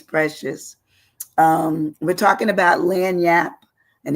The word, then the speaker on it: lagniappe: i a p PE so it doesn't it it and it's so short in terms of of how you say it but it's long in terms of how it's spelled but it it is